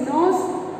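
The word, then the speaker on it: knows: Number three, nose, K-N-O-W-S, nose, and N-O-S-E, nose.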